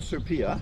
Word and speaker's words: Super: Yes, this one is called Supia. Supia. Yes, it was designed and propagated in France. Oh, really? So it's spelt super. Super. But it's pronounced Supia because it's Supia.